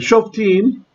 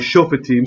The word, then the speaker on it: Shoftim: go back that the the shelf team rather chauffeur team sorry i'm doing the israeli pronunciation right because long vowel so should be vocal schwa we get sloppy sometimes